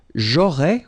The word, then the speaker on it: j'aurais: J'aurais, remember, final S not pronounced.